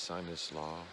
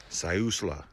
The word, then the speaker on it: Siuslaw: actual rain forest and I've been pronouncing it wrong it's not this sinus law Siuslaw National Forest gotta say it with an Indian dollar and then that there's